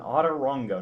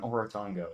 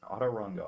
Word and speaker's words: Autorango: mispronounced my own thing it's actually called an autorango yes an otter rongo not an oritongo it's an auto rongo I assure you this